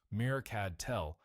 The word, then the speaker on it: HgCdTe: The material HgCdTe, pronounced "mercad tell" by the engineers who worked with it, responded to thermal radiation in the 8 to 12-micron wavelength band.